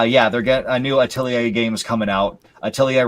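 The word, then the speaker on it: Atelier: the spelling of it, I understand why they pronounce it the way they do. And that is the Atilier series or as people like to call it Atler.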